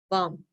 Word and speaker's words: bomb: bomb and remember bomb we don't pronounce the b actually bomb so that's fall into